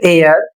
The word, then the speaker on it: heir: जैसे इसमें लिखा है द ऑनेस्ट एयर लॉस्ट ह ऑनर इन एन आवर।